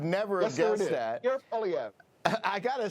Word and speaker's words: Poilievre: Apparently, it's pronounced Poilievre. I would never have guessed that. You're Poilievre.